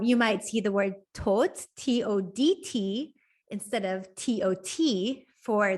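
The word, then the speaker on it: todt: might see the word tot t-o-d-t instead of t-o-t for the word dead so again this d is almost silent it really doesn't change the pronunciation of the word which is why um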